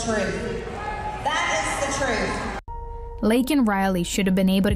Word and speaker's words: Laken Riley: Lincoln Riley, an innocent young woman who was killed by an illegal. Mispronounced it, didn't even say it right, he said Lincoln. Her name is Laken Riley.